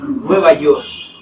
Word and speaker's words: Nueva York: Nueva York, no Nueva York, Nueva York. Hay una K que tampoco está de adorno, es para pronunciarla.